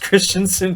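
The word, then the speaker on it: Kristiansund: Flight side Christensen BK oh that's one of the easier clubs pronounced Christianson PK uh he's 20 years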